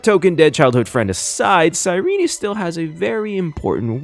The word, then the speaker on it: Cyrene: And yes, her name is pronounced Sirene.